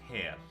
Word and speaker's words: Hel: Yeah, by the way, it's pronounced Hel. Hel? Yeah, Hel.